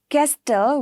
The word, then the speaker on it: castle: In this fasten, castle, we don't say castle, right? We say castle.